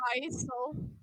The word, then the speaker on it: Yeissal: Yeissal. It's like It's ice. Yeissal.